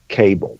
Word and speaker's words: Cabal: and by the way just for the record I would say my name something like you are but it is pronounced cable so there are some